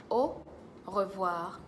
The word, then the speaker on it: au revoir: Friday series is avoir olive wah Oh wah au revoir au olive Wow Oh oh wow all of